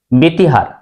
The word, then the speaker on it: ব্যতিহার: এবার তোমরা বলো বন্ধুরা কারণ শব্দের প্রথমে জ ফালা তারপরে রসিকার আছে উচ্চারণ হবে ব্যতিহার দেখো সঠিক উচ্চারণ কি হলো